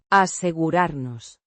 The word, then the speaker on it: asegurarnos: asegurarnos. The first person plural form of the verb. Asegurar. Meaning, to ensure, or, to make sure. Pronounced. Asegurarnos. With emphasis on the second syllable and a soft R.